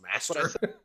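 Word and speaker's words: мастер: guess the Russian spelling is actually just as pronounced master. From the I master. I himself. thought MacTep meant master in Russian. Apparently, no, you just pronounce it as master. I didn't realize that. Everyone said MacTep because it's America.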